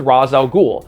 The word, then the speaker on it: Ra's al Ghul: So for me personally, yeah, I am going to stick with Razz al Ghul, the pronunciation that's the closest to both the original Arabic and how Neil Adams and Julius Schwartz have said it, which again is 2